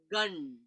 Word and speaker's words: Gam: Instead of going Om Gam, I'm using the Anuswara pronunciation, which changes the energetics. It becomes tantric. So instead of Om and Gam, you would go Gun. So it becomes like a nasal sound, like the sound croissant.